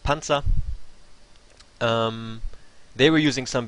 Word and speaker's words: Panzer: teams such as Panzer also a German word actually pronounced Panza um they were using